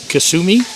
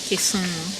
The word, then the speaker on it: Kisumu: Kasumi? Kisumu.